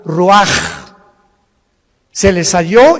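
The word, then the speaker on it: רוח: capítulo y exhaló Isaac el Roach así como suena se pronuncia la ch en hebreo como J ruaj se le só y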